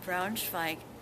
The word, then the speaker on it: Braunschweig: My husband got a Fulbright scholarship to Braunschweig, Germany, which is that's a German pronunciation. English is Brunswick.